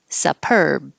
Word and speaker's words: superb: And 10, the su is not stressed, so it changes to su. Superb.